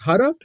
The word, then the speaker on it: Huda: Her name is Huda. Yeah, HOTA, like Hoda. Jota, like in Spanish. Who that hoe? That's how you say it correctly.